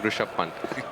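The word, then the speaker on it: Rishabh Pant: and Dh Karthik joining Rush Pant that's the right way to say it he's a real character made that position his own now, hasn't he?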